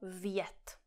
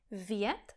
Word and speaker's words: vjet: Další příklad je slovo vjet. Vjet znamená někam dovnitř. Například, když tohle je garáž a tohle je auto, tak říkáme vjet do garáže. Tohle slovo má jeden vokál, e, jednu slabiku. E, vjet.